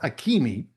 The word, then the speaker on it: Akemi: No, it's pronounced Akemi. Oh, good. They don't do pronunciation. Akemi is a Japanese name.